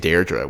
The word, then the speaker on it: Deirdre: Deirdre which is what the name is Deirdre yeah which is an Irish name yeah but they're the